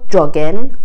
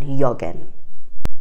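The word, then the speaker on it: jagen: یه سری جا هست مثل توی فعل جاگن جی تلفظ زبان آلمانی نمیاد، ولی اگر کلممون از زبان آلمانی بیاد یه تلفظ میشه یونگه، یکه. ولی همینطور جاگن درسته، نمیگن یاگن.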